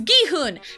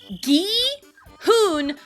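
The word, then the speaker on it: Gi-hun: It's not that hard to pronounce gihun. Now, I understand that there are some Korean characters that are a little tougher to pronounce for a native English speaker. I can there's some workarounds. I totally understand that. But gee, hoon are sounds that an English speaker can make on their own. It's not that hard.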